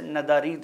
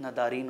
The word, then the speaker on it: ندارید: ذرا سا ڈفرنس ہے۔ جیسے ندارید ہے، وہ آج کے تہرانی لہجے میں جو اسٹینڈرڈ لہجہ مانا جاتا ہے، ندارید بولتے وقت ندارین ہو جاتا ہے، دارید دارین ہو